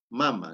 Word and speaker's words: mama: es taita no la mamá ya también tiene una denominación diferent mama no O mam no es mamá mam porque en el en el quechua hemos dicho la mayoría de las palabras son graves O sea la mayor